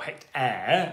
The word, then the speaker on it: hectare: Hect, from the Greek, for 100, but then aere, kind of, or hectare, as we would pronounce it, does in fact come from the Latin aria.